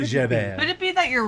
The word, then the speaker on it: Javert: You know, the T is silent. Jabba. No, it French. should be. Javert.